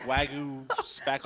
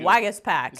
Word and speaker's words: Waguespack: Well, one, good job pronouncing this guy's name, because I was like Wagyu Spack. I thought it was some kind of Japanese beef. Wagyu. Waguespack.